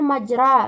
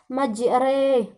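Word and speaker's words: مجريها: majrooh seru di sini kita baca bukan majra melainkan majreha yakni karena dia merupakan hukum imalah yaitu Mbak disini terdapat Euro berbaris kasrah eh berbaris fakta tetapi pada saat kita membacanya kita baca seperti seolah-olah dia berhuruf seolah memiringkan nya membawanya ke huruf pasrah yakni bismilahi majreha BAB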